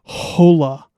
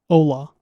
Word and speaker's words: hola: The h in Spanish is silent, right? So it's not hola. It's ola, right?